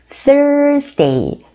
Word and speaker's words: Thursday: 요 TH 발음, Thursday. 이거 발음요. 혓바닥을 살짝 깨무시고요. 발음을 촥 부세요. Thursday. 그다음에 R 사운드도 해주셔야죠.